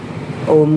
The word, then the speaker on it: ओम: लेकिन जब हम ओम का उच्चारण करने की बात करते हैं तब आपको अ उ म, और अ बड़ा उ बड़ा देर तक, और उसके बाद म जरा थोड़ी देर तक आपको इस तरीके से बोलना है।